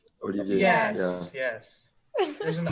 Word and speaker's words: Olivier: It's Olivier. Olivier? It's Olivier.